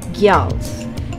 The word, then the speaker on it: Gjalls: Today it's all about Gjalls, or using the more accurate pronunciation, Gjalls and Ticks.